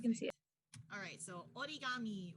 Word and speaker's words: origami: see it alright so origami or origami if you want to pronounce it like an american like i grew up